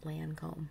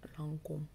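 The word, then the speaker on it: Lancôme: and fashion lines and i know it's not lancome it's uncle but i'm not french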